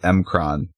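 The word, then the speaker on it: M'Kraan: The villains pose, and then they bring back the Macran crystal, crystallizing the universe again. Yeah. I always pronounce it Mcron. That's how they said it in the cartoon.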